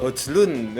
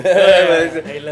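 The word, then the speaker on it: Højlund: Hojlund. Highland. Tulisannya Hojlund ya, Hoyland ya. Bacanya Hoyland.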